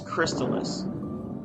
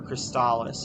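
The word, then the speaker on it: Crystalis: welcoming to me was crystallus or cristalis if you're one of those people there's a lot of people that pronounce it crystallus i pronounce it crystallus but um it's an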